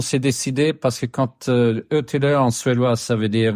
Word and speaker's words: Ötillö: En français, on dit Otilo. Ça te va si on prononce pas comme il faut?